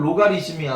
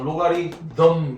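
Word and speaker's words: logarithm: 보통 아 펑글리시로 읽으면 로가리즘이야. 로가리즘. 로가리즘인데 정확하게 읽으면 어 로가리덤 되겠지.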